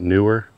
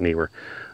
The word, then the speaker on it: Neewer: KN instead of n because some people were calling it newer and it's just confusing to hear people talk about it newer or kner but it's spelled with two e so I'm going to call it Neer uh small rig grip